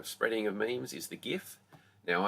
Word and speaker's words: GIF: of memes is the GIF. Now, I'm adamant that it's a hard G when you talk about the GIF, not GIF, as some people like to call it.